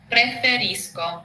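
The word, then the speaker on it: preferisco: Pre not preerisco. Preferrisco. Yes. Preferrisco.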